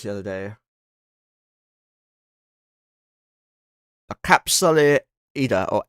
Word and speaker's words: Edda: A capsule Eda or Eda. How do you pronounce that? Eda, apparently.